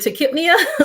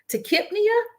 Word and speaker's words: tachypnea: So we know that the PNEA, the P is silent, the NEA refers to breathing. So Brady, Nipia, however you pronounce it, heart is, they're breathing really slow. Tachypnea, they're breathing really fast.